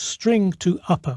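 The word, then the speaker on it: strtoupper: a rather unpronouncable name St to Upper it makes a bit more sense when you realize that the St Str at the beginning stands for string so it's string to Upper or string to upper case I'll call it string to Upper to make it easier to pronounce so to convert City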